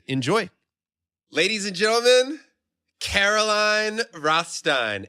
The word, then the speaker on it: Caroline Rothstein: love this interview with Caroline rostein enjoy ladies and gentlemen Caroline Rothstein am I saying it right yes okay good I was